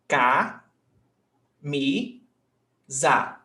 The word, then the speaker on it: camisa: Which one is sílaba tônica? Camisa. Me. Right? Yes, me. So camisa. Me is the stressed syllable. And here, how many syllables have we got? 3. Ca, mi, za. So this syllable right here is the stressed syllable, me.